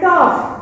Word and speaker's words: tough: हो रहा है, देन टॉफ, TOUGH, टॉफ, तो GH ऑफ, ऑफ ऐसा हो रहा है, तो GH भी यहाँ पे हाईलाइट हो रहा है।